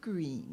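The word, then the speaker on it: Gruene: You got to be sure to pronounce it green. That's the way the people say it around here, Looks like Grüne, but it used to be Grüne.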